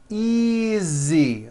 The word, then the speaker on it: easy: those are my books easy again the S is like a voiced Z easy